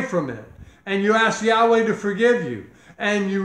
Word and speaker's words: Yahweh: what his name is i am yahweh yahweh that's how you say it the tetragrammaton in